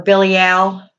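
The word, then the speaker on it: Belial: on with Bilal or Billy al is how you pronounce it now Lucifer throughout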